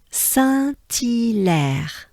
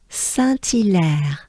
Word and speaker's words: Saint-Hilaire: In terms of pronunciation, it goes like this. Saint-Hilaire, right? So the banana smile is important here. Make sure you overpronounce it, right? You exaggerate it. So again, Saint-Hilaire.